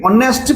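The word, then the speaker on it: honest: ম্যান ঠিক পড়ি এটি অনেস্ট পারসন তো অনেস্ট পারসন এটা এটি সাইলেন্ট আমি পড়িলে কন পছে অনেস্ট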